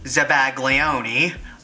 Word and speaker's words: zabaglione: or subway ole and it's spelled sa BA y OU n or Z ABA GLI o and E the Italian Way which is zabaglione or is that by